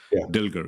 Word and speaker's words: Dilger: on Amazon Understanding even sourcing by by dilger is did I say your last name right yeah yeah that's perfectly pronounced yeah right like how do you see